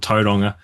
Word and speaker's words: Tauranga: Um, the city the city I'm in is called Tadonga. Wait, wait. How do you spell How do you spell that?